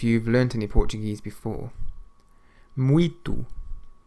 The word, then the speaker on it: muito: Muito. Muito.